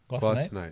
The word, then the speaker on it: glycinate: When someone was to take magnesium that's not glycinate, Glycinate. glycinate. You're doing your K. It's a soft C.